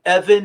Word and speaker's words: Evyn: And Evan is spelled uh uh a little bit differently. So, instead of an A, it's got a Y.